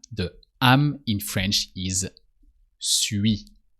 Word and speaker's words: suis: But for I am, when you want to say I am, the am in French is suis. So U and then I. U, I. That merge together. Ui.